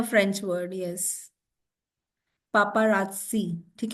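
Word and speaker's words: paparazzi: a French word yes पापा राजसी ठीक है द प्रोनंसिएशन इ पापा राजसी ओके नेक्स्ट वर्ड वी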